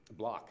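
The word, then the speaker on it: Blach: Block is how you pronounce it.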